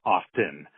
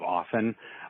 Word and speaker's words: often: With the T in the middle, people are saying often rather than the proper pronunciation of often, like the words soften or listen or hasten. The T, the medial T, is silent.